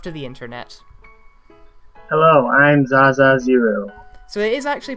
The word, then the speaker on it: Zaazaa0: Hello, I'm Zaza Zero. So it is actually pronounced a zero. I did always wonder about that. Yes, it sounds weird with the O. I just always ended up pronouncing it Zazao when it was just like ancient Chinese philosophy.